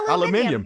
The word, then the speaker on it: aluminium: Yeah, aluminium. Yeah. Exactly. Thank you for pronouncing properly.